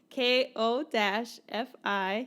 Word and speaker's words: Ko-fi: So you can go to Ko-fi, which is spelled Ko-fi.